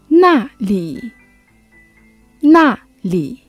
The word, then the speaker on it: 那里: 那里那里 Still remember how we say where?